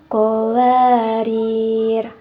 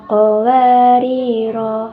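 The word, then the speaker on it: قَوَارِيرَا: a di atas ya cara membacanya yang tepat adalah qawarir qaarir jadi pada huruf terakhirnya itu langsung disukunkan ya teman-teman apabila teman-teman membacanya dengan cara ee qawariro rnya dibaca dua ketukan maka itu kurang tepat ya teman-teman karena di situ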